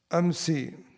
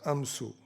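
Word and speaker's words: أمس: And there's an exception, some say, where some pronounce it as amsu.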